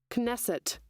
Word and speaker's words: Knesset: Knesset. Knesset. The Parliament of Modern Israel, established in 1949. It's illegitimate. Knesset. Knesset.